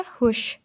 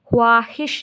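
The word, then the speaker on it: خواہش: तो ये क्या होता है? हुश। हे वाव शीन छोटी ये, खुशी, खुशी। हे वाव अलिफ हे शीन हाहिश, इसको हम ख्वाहिश नहीं पढ़ते, इसको हम हाहिश पढ़ते।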